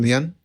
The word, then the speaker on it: Lehane: film Kevin leane sorry how do you say your name again Kevin lean it's uh Carin no it's it's Kevin Kevin lean Kevin lean I did say it